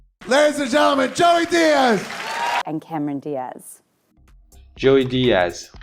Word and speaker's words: Díaz: So instead of Sanchez, Gomez, Hernandez, and Diaz, which is what you see in the English language videos, you need to pronounce them as Sanchez, Gomez, Hernandez, Diaz.